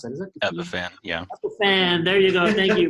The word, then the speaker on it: Epiphan: Let's try to, some people are also asking about using other tools like Ephesian. I can never pronounce that. Is that Epiphan? Yeah. Epiphan.